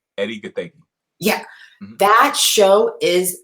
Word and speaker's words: Gathegi: Eddie Gathegi.